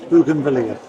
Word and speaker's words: bougainvillea: How do you pronounce them? Bougainvillea.